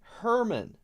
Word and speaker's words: Herman: should be interesting oh herman emphasis on the h hermann ah very interesting thank